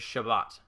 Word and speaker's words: Shabbat: the sabbath elevator um the hebrew is actually pronounced it as shabbat that's that's what it is in in hebrew